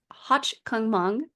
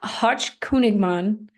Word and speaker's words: Hochkönigman: This includes Hochkungmung. Did I do that right? I think it's Hochkönigmann.